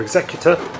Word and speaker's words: Executor: Or Executor, depends how you say it or where you're from probably, and the Imperial symbol.